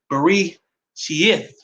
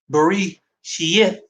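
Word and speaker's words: בראשית: This is Genesis, in the Sefer is called Bari Sheith. Bari Sheith. That's how you say it in Hebrew, Genesis.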